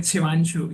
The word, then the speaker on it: Shivanshu: I kind of confused how to pronounce It's Arya. Shifanshu. Shifanshu, Yes, Shivanshu. right? You are on spot at Shivanshu, yes.